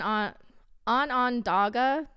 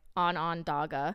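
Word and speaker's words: Onondaga: and and you know google said it's pronounced like on on dagger but i could be wrong so feel free to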